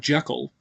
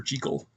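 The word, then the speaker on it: Jekyll: and I keep bouncing back and forth in pronunciations it actually is Dr J not Jackal but everybody knows it is Dr Jackal so um but yeah it's a Scottish name so it's supposed to be Dr jle presed for a monster movie yeah well I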